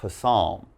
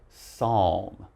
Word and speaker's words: psalm: Now, the next one here, it's not psalm, all right? Now, this we just say psalm.